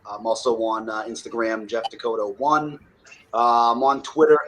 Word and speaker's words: Descoteaux: The last name's pronounced Descoteaux. I know it's weird, it's long, it's French, but it's like North Dakota, South Dakota. Take the A off and put the O at the end.